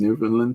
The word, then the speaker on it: Newfoundland: But if you've never met, and Ontario has a lot of people from Newfoundland, so we all know it's pronounced Newfoundland to them.